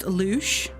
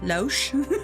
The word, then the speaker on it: louche: It's pronounced louche. What did I say? Loesch?